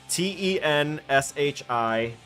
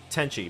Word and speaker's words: Tenchi: Tenshi in Tokyo. Or Tenchi. Tenchi, my bad. I was mispronouncing it the whole time. Tenchi in Tokyo. I said S instead of C.